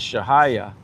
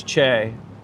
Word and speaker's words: Che: I know it was an accident, but And then he says, "Shaya." So, Robert maybe is confused. That's Chay.